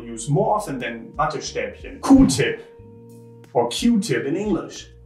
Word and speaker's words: Q-tip: And Q-tip is just how we Germans say it. It's not cow-tip, because Q also means cow, but also the letter Q is spelled Q, or pronounced Q in German. So we say Q-tip.